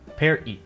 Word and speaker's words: party: Notice the equivalent word for party, which is per-i. The first vowel sound is different, and the T is pronounced like a glottal stop.